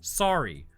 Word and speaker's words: Suri: I just looked up the pronunciation for Suri, and it's sorry.